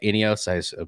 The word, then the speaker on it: INEOS: radcliffe the british billionaire and chief executive uh ineos that's how you pronounce it was expressed as um has expressed